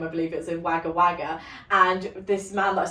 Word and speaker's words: Wagga Wagga: In particular, I remember there was a pen museum, I believe it was in Wagga Wagga, and this man that I spoke to that